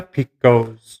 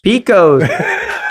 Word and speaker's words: Pekosz: Picos. Picos. Dude, oh my God. We've been pronouncing your name wrong forever.